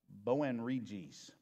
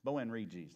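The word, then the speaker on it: Boanerges: I wrot this out how to pronounce that I wrote it out somewhere uh boen reges boen reges that's how that's how it's supposed to be pronounced uh which means sons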